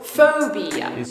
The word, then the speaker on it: phobia: With the stress on the 1st syllable. Phobia. Not phobia.